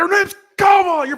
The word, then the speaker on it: Kamala: He got mad at me for saying Kamala. He's like, her name's Kamala. You're pronouncing it wrong on purpose.